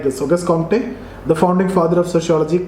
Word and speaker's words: Auguste Comte: Auguste Comte, the founding father of sociology, claimed to have developed laws of universal laws of social organization.